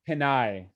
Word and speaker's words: Pinay: Did I pronounce the female version correctly? It's Panay. Pinay.